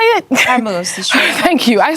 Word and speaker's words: Hormuz: Hormuz, the Strait. Thank you. I said vermouth like a drink because I need one.